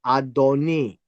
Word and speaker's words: adoni: not applied to God it carries the word adoni but when it comes to God it will be pronounced as Adonai but the whole idea here